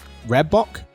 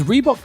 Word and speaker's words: Reebok: afrikaans for the grey redbock r-h-e-b-o-k definitely said it wrong so there's the spelling which is a type of african antelope is reebok big over here paul